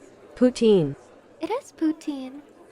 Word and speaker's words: poutine: It is poutine. It's okay. Maybe I can do like poutine. Poutine. It's Quebecois. The correct pronunciation is poutine.